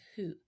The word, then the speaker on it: who: And of course, it's tricky because phonetically, W says W, H says H, and the O would say ah. So if you try to pronounce it like how it sounds in the alphabet, it will come out sounding weird.